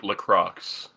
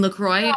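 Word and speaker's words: LaCroix: good it's it's like lcro you mean lacroy also known as the world's worst water there's so many wrong ways to pronounce it and that's the worst one the best part is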